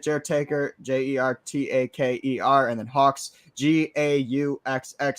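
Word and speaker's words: Gauxx: Taker j-e-r-t-a-k-e-r and then Hawks g-a-u-xx silent G pronouncing H double X and entertainment spelled correctly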